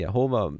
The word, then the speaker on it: Yehovah: Just in case you're new, we understand the Father's name to be pronounced Yahweh. Some say Yahweh, some say Yehovah, many other.